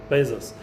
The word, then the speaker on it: Bezos: Boos no Jeff Bo how do we say his name Bezos Bezos Jeff Bezos he changed